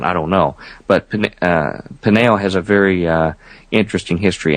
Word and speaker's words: Peniel: Jacob names that place Peniel, P-E-N-I-E-L, slightly different spelling, Peniel, almost identical pronunciation.